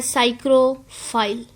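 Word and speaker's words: psychrophile: जो स्पीड है बच्चे यह लिखने में का यह बोलने नहीं पी साइलेंट है तो हम इसको पढ़ना है साइड प्रोफाइल सभी तेरी अपडेट्स अवॉइड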